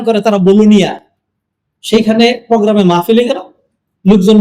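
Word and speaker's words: Bologna: একটা সিটি আছে বাংলাদেশের চট্টগ্রামের মত বাণিজ্যিক নগরী বলুনিয়া ইংলিশে লেখে বলগনা উচ্চারণ করে তারা বলুনিয়া সেখানে প্রোগ্রামে মাহফিলে গেল লোকজন বলল যে আপনাকে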